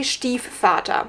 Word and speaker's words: Stiefvater: Just as a quick PSA, because I would say Stiefvater, because it's a German name.